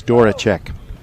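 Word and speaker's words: Zydworaczyk: the public address announcer i'm not sure how he pronounced his last name but it's spelled z y d-w-o-r-a-c-z-y-k but i happen to know it's dora check so he will try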